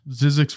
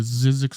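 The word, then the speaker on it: Zyzzyx: wonder what the budget was for it 31 zizzix Road budget look at that Nathan I'll spell it for you too z-y-z-z-y-x Road which is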